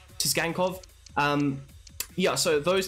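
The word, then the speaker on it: Tsygankov: botch this man's name, but Tisgankov, I think that's how you pronounce it, Tisgankov.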